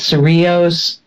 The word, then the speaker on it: Cerrillos: Madrid called Caucasian white the way they say it is Cerrillos they pronounce it's adios